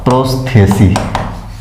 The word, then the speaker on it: prosthecae: तो लिख लीजिए एक इसमें बाहरी संरचना में एक और प्रोसेथी, प्रोसेथी PROSTHECAE स्पेलिंग ही होता है प्रोसेथी का, हिंदी में लिख लीजिएगा प्रोस्थेसी, हाँ प्रोस्थेसी यही होगा।